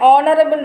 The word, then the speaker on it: honorable: An is also used before words beginning with H when the H is not pronounced, that is, when H is silent. For example, an honest man, an honorable man.